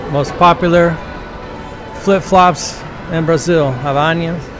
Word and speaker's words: Havaianas: The most popular flip-flops in Brazil, Havaianas. How do you pronounce it? Havaianas.